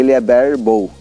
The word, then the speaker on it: barebow: vários nomes assim parecidos mas a pronúncia certa de liebherr bow tá ok se escreve bari vou da boo w então se você for